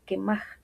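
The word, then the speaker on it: קמח: Y cuando lanza la harina, la palabra de harina, encontramos que se pronuncia quemaj.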